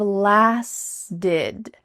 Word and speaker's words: lasted: So just think L-A-S, las, plus did, D-I-D. Lasted. Lasted hundreds of years. Lasted hundreds of years. So both past tense verbs, started, lasted, have the same type of pronunciation. The T's changing to a D, and that final ED ending is going to sound like id.